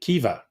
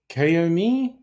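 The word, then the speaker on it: Caoimhe: Look, I don't know how you Kiva. I love that. That's an Irish name. You look at that and there's what's it? Kaomi? No, it's Kiva.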